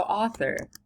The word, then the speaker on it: author: so author ah Thor you've got two syllables author right and when you say it naturally and you put it in a sentence what what becomes the louder syllable the auth or the or Well author you're usually probably unless something is really weird in that sentence you're going to strongly accent the auth and it's going to